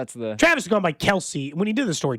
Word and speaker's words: Kelce: Okay, so somebody said Travis Kelce says everyone pronounces Kelsey incorrectly. Just we had that whole thing. Does Andy Reed actually say it, right? Then he said that he thinks it was originally Kelse. That's not what he went